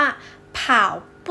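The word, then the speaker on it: 跑步: เลย วิ่ง นะ คะ ใน ภาษา จีน ออก เสียง ว่า ผ่าว ผู้ ผ่าว ผู้ แปล ว่า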